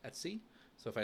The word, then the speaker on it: etc: So it's etc which is pronounced Etsy.